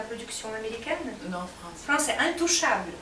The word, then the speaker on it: Intouchable: Untouchable. Ah, c'est la production américaine? Non, français. Français, Intouchable. Untouchable. Ah, il faut bien prononcer. Parce que c'est pour ça que je parle. En plus un. Intouchable.